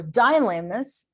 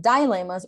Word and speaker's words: dilemma: Okay, so this is about discussing dilemmas or dilemmas. Both pronunciations are possible, okay, guys, for this word. Even in American or in British English, both pronunciations are possible. Discussing dilemmas or dilemma, both are okay, okay?